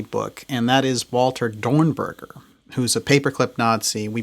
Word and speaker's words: Dornberger: And please note the pronunciation, everybody. It's Peenemünde, not Peenemünde, or, I hear so much stuff. It's Dornberger, in other words, that is heading von Braun